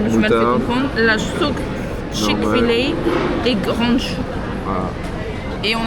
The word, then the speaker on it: Chick-fil-A: Chick-fil-A. Chick-fil-A. Chick-fil-A. Ça se prononce ainsi.